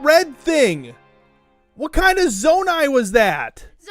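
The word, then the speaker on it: Zonai: Nutty fam says Naomi, it's pronounced zonae.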